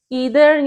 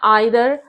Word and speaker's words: either: ईदर या आइदर, आप किसी भी तरीके से इसको प्रोनाउंस कर सकते हैं.